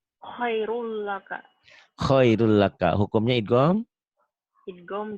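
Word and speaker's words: خيرٌ لك: Kemudian khairun laka dibacanya jadi Khairul laka.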